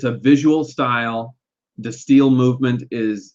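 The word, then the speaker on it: De Stijl: This is where we get into Destiel. It looks like Destigial, but I believe the J is pronounced more as a Y.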